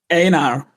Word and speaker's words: Ejnar: Einar. Thank you. Yeah. Thank you. Sometimes on these international servers, I spell it with a Y. It makes it simpler, but it's Swedish.